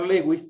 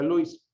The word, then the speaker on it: Lewis: Entonces, pronunciar Lewis también es correcto, si no tengo la certeza que se pronuncia Luis.